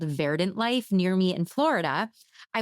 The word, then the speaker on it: Verdant Lyfe: So I went online looking for carnivorous plants near me, and I found this really cool plant shop called Verdant Lyfe. That's Life spelled with a Y.